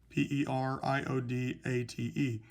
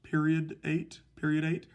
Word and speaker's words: periodate: PERIODATE. Now it may look like it's pronounced periodate.